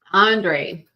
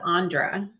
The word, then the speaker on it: Andre: Andre. I read it as Andra instead of Andre.